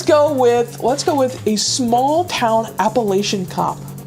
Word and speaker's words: Appalachian: Appalachian. It's a correct way to pronounce it. I'm a freak out. I'm a freak out right now. Uh small town Appalachin cop.